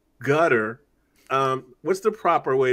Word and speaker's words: Qatar: other people are saying gutter um what's the proper way to pronounce the name of this place so if you go by how it's pronounced in Arabic it's Qatar and the closest thing